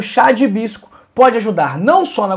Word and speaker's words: hibisco: Nosso 3º chá, que é um dos meus preferidos, a cor dele é linda, é o chá de hibisco.